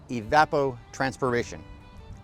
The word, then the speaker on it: evapotranspiration: Evapotranspiration. That 7-syllable word that means water loss from a crop and the soil that is grown on.